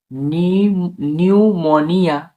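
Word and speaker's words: pneumonia: তো NEU, তাহলে নিউ, নিউ, MONIA, মনিয়া, নিউমোনিয়া উচ্চারণ কি হবে?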